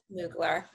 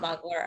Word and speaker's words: Mugler: just come from mugler okay moogler not muggler according to this person over here in the corner but who knows subjective